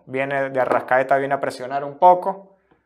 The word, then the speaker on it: Arrascaeta: de de arrascaeta pero que es que se pronuncia el nombre entonces finalmente de arrascaeta hace forlán arriba siguen cavani y suárez y